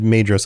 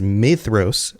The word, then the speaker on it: Maedhros: And I said Maedhros on previous episodes. So, thank you to those who have corrected me on the pronunciation of the DH. It is Maedhros, like th.